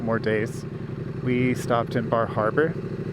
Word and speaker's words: Bar Harbor: days, we stopped in Bar Harbor. Bar Harbor, or I think it's pronounced Bahaba. I saw a sign that pronounced it, and it was B-A-A Haba.